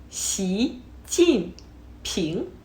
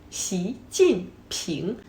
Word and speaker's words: Xi Jinping: And his name is Xi Jinping. Xi Jinping. Xi like sh in sheep, but extend the mouth to a big smile.